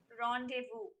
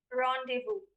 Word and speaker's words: rendezvous: alternate pronunciation being rendezvous since it is the french origin your pronunciation would be rendezvous r e n d